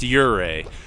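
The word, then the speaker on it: Ouray: the way it's pronounced uray it looks like uray but it's your and then like Canadian a uray that's my favorite place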